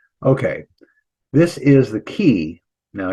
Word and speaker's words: chi: Okay, this is the key. Now, if you're a Greek person, you probably, university Greeks, right? They'll call it chi, but we'll call it key. This is the k sound, but it looks like an X.